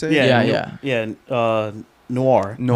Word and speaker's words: noir: into Batman, the anime Neor, is that how you say it? Yeah. Yeah. Uh noir. Noir. Noir. Yeah. It's not very neo. It's more Noir.